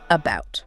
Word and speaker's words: about: But the stress is firmly on the second syllable bt.